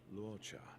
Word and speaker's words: Luocha: When I was pulling for Luocha, how's it pronounced again? I'm a traveling merchant, merely passing through. The name's Luocha. Lucha. Luocha.